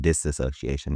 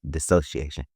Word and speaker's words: dissociation: wrong from time to time I'll be saying disassociation this dissociation uh but specifically in the realm of like